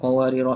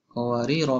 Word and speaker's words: قَوَارِيرَا: pula ayat 16 ini cara bacanya adalah Anis dihujung qowariro itu tidak dibaca ketika waqaf dan washal maknanya Alif itu kita